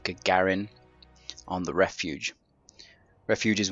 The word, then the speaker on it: Gagarin: it does Spartan Miller he pronounces it Garin now I really don't know how the hell he manages to get that pronunciation from the word but that is not the proper way of saying it Gagarin not gargan it's absolutely awful I